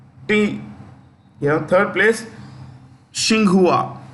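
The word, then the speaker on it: Tsinghua: you know third place shinghua starts with T I repeat t s h i n g u a shinghua university okay yeah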